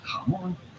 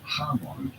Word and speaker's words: jamón: The accent on the O here means that you want to stress on the O, the second syllable, and say jamón, not jamón.